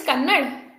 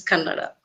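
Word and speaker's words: Kannada: to understand uh so your mother tongue is Canada Canada Canada yeah it's common in Bangalore people pronounce like Canad but my native language is Canada Canada okay thank you for correcting because you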